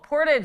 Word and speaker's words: Portage: Oh, Portage is how you say it.